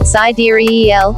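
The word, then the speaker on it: sidereal: Mystery of our universe cider ale pronounced s De eel is according to Mom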